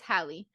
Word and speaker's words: Halle: is I think it's Halle is that how you say her name Hallie Bailey I'm pretty sure it's Halle um and it's so